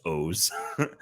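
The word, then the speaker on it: OOO: Then O's was three and it had three different like uh it had the three O's. It's it's O O and it's pronounced O's which was always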